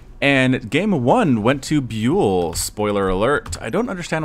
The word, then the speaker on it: ByuL: I had to look up the pronunciation for Bule just to make sure I was getting it correct. It is in fact Bule.